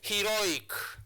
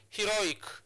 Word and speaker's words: heroic: So that's why we are placing our stress marker on the second syllable. So heroic. So it's heroic. So you place your stress marker on this syllable. So he is the second last syllable.